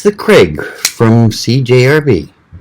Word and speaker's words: Crag: overlooked it it's the craig from cjrb yes the craig or crag depending on where you live and how you want to pronounce it it's a neat little